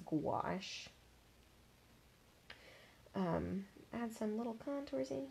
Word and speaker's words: gouache: It's spelled gouache, so I think some people will mispronounce it as gaucho or something, but it's gouache.